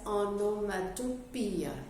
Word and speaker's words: onomatopoeia: Whenever that sound is there in the literature, then that's onomatopoeia, not poia, pia. O is silent in that figure of speech.